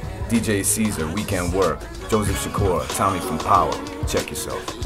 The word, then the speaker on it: Sikora: I said the last name right? Sikora. Yeah. Okay. Joseph Sikora. Italian? Sikora. It's Polish.